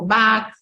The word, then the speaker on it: Bach: los ejemplos por ejemplo Bach pronunciado back depardié Da Vinci shakes